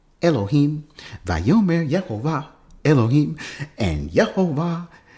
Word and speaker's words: Yehovah: on the Leningrad manuscript I all this Valmer yeah ova elohim Bioman yeah ova elohim and yeah oh my god ellaby said